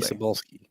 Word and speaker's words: Cebulski: My gosh, CB Cebulski, I think is his name. Probably pronouncing that wrong. Sorry, CB buddy. Cebulski. Glad I pronounced that right.